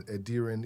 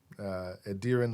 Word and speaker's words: Edirin: My name is Edirin. Edirin, like a deer in headlights. Another thing I've learned ever being here in America for a deer good amount of time, like a deer in headlights. Edirin.